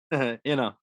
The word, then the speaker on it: Inno: Or is it Inno or Ino? Inno. It's Inno.